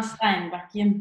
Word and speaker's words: Steinbakken: How do I pronounce it? Emma Steinbakken.